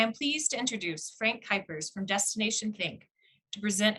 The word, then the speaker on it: Kuipers: you can hear so my name is frank kuipers that's how you pronounce it if it were an english name